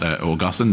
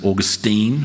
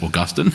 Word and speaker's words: Augustine: Augustine and it's pronounced Augustine the the uh kind of some Modern Americans pronounce it Augustine with the emphasis on the end but it is certainly pronounced Augustine so you'll hear me